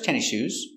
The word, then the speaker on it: tennis shoes: end pronunciation tennis shoes when we have sh after an s we don't hear the s tennis shoes tennis sh